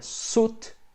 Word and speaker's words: suit: Não pronuncia o i ali, é suit and tie.